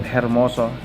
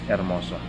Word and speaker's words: hermoso: salute salute so again letter h is not pronounced okay it's silent instead of hermoso it's pronounced as ermoso my long time dream